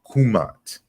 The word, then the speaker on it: Kmt: you know his language the more proper pronunciation you know was more than likely kumat and then he gives